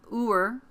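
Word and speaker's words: ewer: This is a Eur, I think is how you say it, E-W-E-R.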